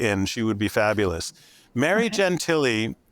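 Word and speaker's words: Gentile: she would be fabulous Mary Gentilly uh is spelled g-e-n-t-i-l-e um taught ethics at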